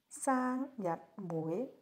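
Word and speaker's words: 生日會: Now let's learn how to pronounce the word "birthday party" in Cantonese: birthday party, saang1 jat6 wui2 Example sentence: keoi5 hoi1 zo2 go3 saang1 jat6 wui2 He was throwing a huge birthday party.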